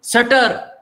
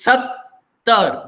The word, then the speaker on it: sattar: If you remove this apostrophe, what happens? Sutter. In our system, it becomes sutter. It is not sutter. It is sattar. There are two syllables. Sattar. Two vowels, two syllables.